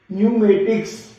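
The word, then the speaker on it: pneumatics: इसी तरह इस लेटर को भी, क्योंकि N से पहले P है तो P साइलेंट रहेगा, NEUMATICS, न्यूमेटिक्स।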